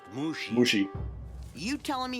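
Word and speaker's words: Mushi: meat and sarcasm guy mushy is it it's pronounced mushy you telling me how to do my job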